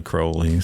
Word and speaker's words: Crowley: There's no audio of him pronouncing his name, but in some of his poetry, he rhymed his name with unholy, Right. Unholy Crowley.